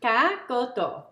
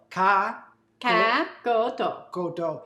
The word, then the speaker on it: Cá Kho Tộ: And pronounce it for me. Cá Kho Tộ. Cá Kho Tộ.